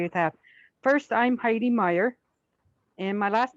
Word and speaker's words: Myhre: First, I'm Heidi Meyer, and my last name is spelled Myhre.